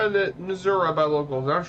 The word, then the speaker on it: Missouri: County away from the Missouri Board it's Missouri no the front way is say Missouri let's play pronounce the state is Missouri not Missouri I don't know where